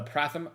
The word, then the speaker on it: Pratham: Call it the Pratham Prem Pen. Pratham means first in Hindi. Pronounce it like Statham.